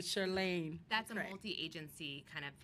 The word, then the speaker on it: Chirlane: unity we the first lady chirlane McCray she made me say it right Saturday somewhere sure Lane that's the agency kind